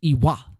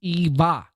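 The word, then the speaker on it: Ewa: And Chris coming in for the Canadian 2 says pronounced Eva Blade with a V. Well, you know, she spells it with a W. You know, here in the States, that would be pronounced Iwa.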